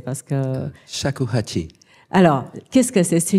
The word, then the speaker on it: Shakuhachi: Je vous laisse le prononcer parce que... Shakuhachi.